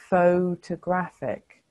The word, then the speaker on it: photographic: o sound like in photograph photographic it's an o sound it's not an uh it does change to an uh in photographer but not in photographic and it's because it's not an unstressed syllable it doesn't have the